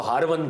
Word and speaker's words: हार्वनी: Iran के अंदर उसको हरवन कहते हैं आमतौर पर लोग इसको मिस प्रोनाउंस करते हैं यह हरवन है जगह और आपके मुर्शिद करीम ख्वाजा उस्मान हार्वनी लोग इसको हारूनी पढ़ते हैं हार ख्वाजा उस्मान